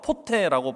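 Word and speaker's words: ποτέ: 진노의 자녀이었더니 아멘 여기서 그때에 라는이 단어가 헬라어로 포테라고 발음하는 단어인데 굉장히 묘한 단어입니다.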